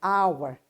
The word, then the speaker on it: hour: an hour once again this consonant is silent here it's a mute consonant and the beginning sound the initial sound of this noun is wall sound hour that's why an hour